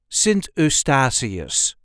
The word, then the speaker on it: Sint Eustatius: way us duchies say sasus sasus there is a light emphasis on the third syllable sarus s Asus sentus sasus I'm going on vacation